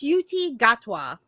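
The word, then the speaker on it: Ncuti Gatwa: no it's okay um it's it's it's it's suti gatwa you looking at the pronunciation this entire time I have inner group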